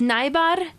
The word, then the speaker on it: Najbar: your last name NB nyar Nar yes yep the J is silent it's nyar in Polish but it's